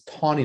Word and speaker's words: Taney: know it's tawny not taney but i didn't expect anyone to know that but that's just it's it's detainee but it said pronounced song yeah it's it's like a w there's a w there but that i don't